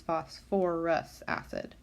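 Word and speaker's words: phosphorous acid: for the phosphite ion, it becomes phosphorus acid. So we add that extra OR syllable in there because chemists decided for some reason that that's how they wanted to name it.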